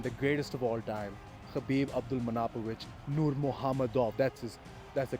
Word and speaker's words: Khabib Abdulmanapovich Nurmagomedov: number one and the greatest of all time, Khabib Abdulmanapovich Nurmagomedov. That's the correct way to pronounce his name.